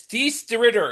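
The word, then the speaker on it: Thijs De Ridder: I believe the pronunciation of that young man's name is Thies de Ritter. He's from Belgium.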